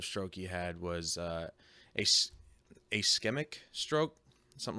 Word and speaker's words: ischemic: he had was a ischemic stroke, something like that. Ischemic. It starts with an I, but I guess you pronounce it with an A or a sound or something like that.